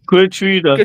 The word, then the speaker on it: Kouyaté: But that's that's an English way. This is with a rolling tongue and a Like angry people with a bit of tin of prostitute in it.